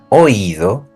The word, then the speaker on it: oído: to the past participle, we have to add a tilde to the I. So we're going to say leído, oído, traído. We're going to write the tilde and we're going to stress that syllable.